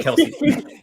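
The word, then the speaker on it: Kelce: It's always going to be Kelsey.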